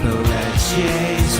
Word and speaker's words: Pelletier: Pelletier rhymes with Pia or Tia, as Tim correctly points out.